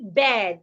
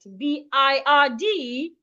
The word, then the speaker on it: bird: So we should not say bed. B-I-R-D is not pronounced bed. It should be pronounced bird.